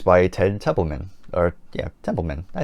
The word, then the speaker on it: Templeman: of course produced by Ted Temple or yeah templeman I said it right I can I say